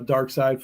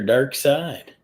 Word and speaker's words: Darkseid: people is the true first appearance of uh dark side forever people won yeah I'm sorry not to